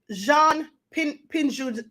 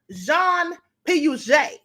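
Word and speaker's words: Piaget: those which we doubt researcher Jean pin uh I'm sorry John p u j that's the way you pronounce it John p u j he did a study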